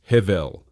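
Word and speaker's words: הבל: This brings us to our second crucial term, hevel, spelled hevel and pronounced hevel.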